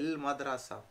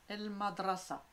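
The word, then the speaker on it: مدرسة: comment on dit l'école madrasa école c'est madrasa elle l'école c'est madrasa madrasa très bien on n'oublie pas de rouler le r un élève tilmide tilmide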